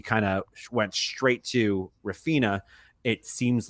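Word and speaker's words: Raphinha: Yeah, Rafinha. I was gonna say that, but if Paul didn't mispronounce the name, I wouldn't be happy. I'm glad he calls him Rafina.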